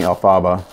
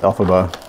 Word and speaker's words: Elphaba: His last year's kit was Elphaba, and I kept saying Elphaba, but it's pronounced Elphaba.